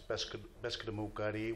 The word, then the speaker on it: Passamaquoddy: The Passamaquoddy tribe, in my language, it's Passamaquoddy, which is pronounced, that's the way it's pronounced in my language, and it means people who spear pollock.